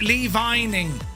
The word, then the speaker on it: Lee Vining: Uh pronounced Lee Vining.